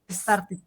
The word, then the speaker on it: started: start, como les expliqué, cuando los verbos terminen en D y en T, no se pronuncia solo la D, sino se pronuncia también como una I, o sea que quedaría Started.